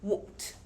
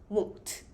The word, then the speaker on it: won't: miss anything이라고 하시면 되는데이 발음 유의해 주세요 약간 우 엉 트에 가깝습니다 won't won't you won't miss anything